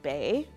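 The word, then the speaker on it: BYEH: our black youth entrepreneurship hub the acronym is pronounced bay b-y-e-h we will be launching our new program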